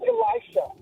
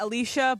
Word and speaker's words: Elisha: name and it's pronounced Elisha. It rhymes with Elijah. Yeah. Um you you need a better phone. Uh Eli's name is Elijah, not Alicia, but it looks like Alicia.